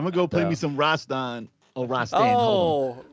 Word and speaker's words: Rastan: go play me some rastan oh roster oh rash stan yeah i didn't know how to pronounce it till i heard online i was doing it wrong but yeah i'm gonna